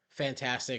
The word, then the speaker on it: FNtastic: Now, the developer of these games are called Fantastic. It's spelled FNtastic.